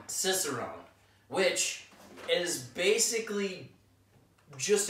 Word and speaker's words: Cicerone: a fiercest of them I feel like we're mispronouncing this I think it's Cicerone Cicerone which it is basically